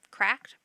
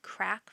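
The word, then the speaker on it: KRACK: to use encryption the original was wep that's cracked very easily um wpa and wpa2 and wpa2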